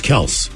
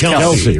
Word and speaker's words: Kelce: Travis Kelce instead of Travis Kelce.